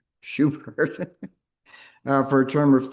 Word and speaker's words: Schubert: Schubert.